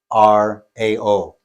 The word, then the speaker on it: Warao: spell that? Well, depending on if you're Venezuelan or it's English, it's WARAO, Warao.